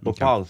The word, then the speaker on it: Bhopal: Bhopal, is that how you pronounce it? Nice, yeah, Bhopal.